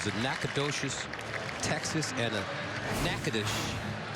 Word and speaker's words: Nacogdoches: Nacogdoches, Texas, and a Natchitoches, I think that's how you say it, Natchitoches, Louisiana.